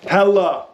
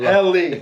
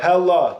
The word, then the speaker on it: Helle: Today we are talking about Hella. If you don't know Hella, they are a Norwegian brand, 4th generation family-owned company. Pause. Oh, Hella, not Helly. We all thought it was Helly. Yep. Hella.